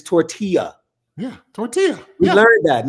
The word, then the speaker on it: tortilla: show is that indeed the pronunciation of that little flowery thing or corn thing that they were throwing on the field and up in the air down in Lubbock, Texas is tortilla.